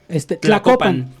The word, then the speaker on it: Tlacopan: Tlacopan.